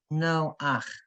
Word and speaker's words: Noach: You say no, and then you go to the vowel first, and then the chet. No ach.